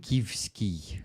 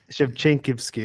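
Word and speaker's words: Shevchenkivskyi: Korsun Shevchensky. Shevchenkivsky. Uh-huh. Shevchenkivsky. Okay. Yeah, not an easy one. But actually, Yeah. you already saying it pretty close to the original.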